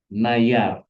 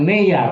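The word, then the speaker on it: נייר: Nayar. Oh dia bacanya bukan nayar. Neyar sori. Neyar ya neyar. Near neyar ya.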